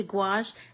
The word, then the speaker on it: gouache: into the it's spelled g o u a c h e but it is pronounced gouache like g-w-a-s-h g-o-a-o-u-a-c-h-e and it's so